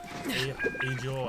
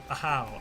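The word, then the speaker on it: Ajaw: Looks like I'm getting cancelled alongside poor Ajo. I still can't. Ahau. That's how you say it.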